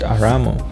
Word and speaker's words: Urumu: it is possible that the name urumu was actually pronounced aramu which is noticeably similar to the name of the legendary Armenian patriarch Aram the urumu are